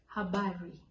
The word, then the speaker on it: habari: Number 4, Habari. This is also another one with a very strong pronunciation. So you have to make sure the R is spelled.